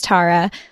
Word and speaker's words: Tara: My name is Tara, pronounced like Sarah, but with a T.